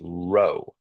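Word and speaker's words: rho: R H O and pronounced row kind of like row row row your boat.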